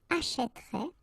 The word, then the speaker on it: achèterait: So, you will put this accent grave here, and then you will change the pronunciation, so you will get this E, achèterait, achètera, achètera, achèteront, achèterait, achèteront.